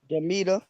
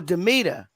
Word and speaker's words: Damita: don't think uh might oh Damita oh Damita okay because ain't no a after the M that's what was throwing me off beta hi Damita all